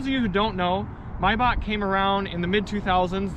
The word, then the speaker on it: Maybach: We're gonna do the proper German pronunciation, Maybach. Now for those of you who don't know, Maybach came around in the mid-2000s.